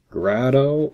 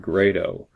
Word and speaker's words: Grado: to pronounce the name grotto or great oh well you'll notice I've been pronouncing it great oh and that's mainly because the way that Grado pronounces it my name is